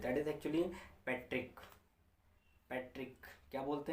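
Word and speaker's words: petrichor: शब्द में क्या बोलते हैं डेट इस एक्चुअली पैट्रिक पैट्रिक क्या बोलते हैं पैट्रिक स्पेलिंग ऐसी कुछ होगी जिसको बैटरी चोर पढ़ोगे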